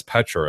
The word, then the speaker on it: Petra: We thought he was pronouncing Peter weird. Yeah, it's Petra.